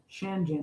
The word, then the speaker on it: Shenzhen: feel you there rushi dan for shagen shagen shen shanzhen shanzhen shanzhen okay we're learning raen gotta laugh